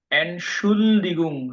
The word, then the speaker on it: Entschuldigung: Entschuldigung, not Schaldigung.